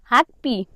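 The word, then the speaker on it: 학비: ब को उच्चारण प भनेर गरिन्छ। अब यसलाई हामीले के उच्चारण गर्नु पर्यो त? प उच्चारण गर्नुपर्यो है। प मा इ लाग्यो के भयो त? पी भयो। पी भयो है।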